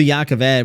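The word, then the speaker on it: Jah Keved: We we we hear in this chapter that Is it Jacov Ed? Am I saying it right? Yeah, I don't know if it's Ja or Ya. Jacov Ed, but Yeah, it's Ya. Okay. So Jacov Ed, we talk we talk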